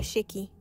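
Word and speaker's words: 屍鬼: اللي بعد كده اسمه شيكاي مش عارفه الاسم ده يعني النطق ده صح ولا لا انا كده كده مش يابانيه النطق الصحيح شيكي ولكن تعالوا نشوف ايه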